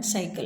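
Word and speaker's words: cycle: इस स्थिति में पहले सिलेबल के बाद में कोई कॉन्सोनेंट नहीं है, ये खत्म हो रहा है वाई पर, तो ये ओपन सिलेबल होने की वजह से हम सी के जगह हम इसका उच्चारण करेंगे साई।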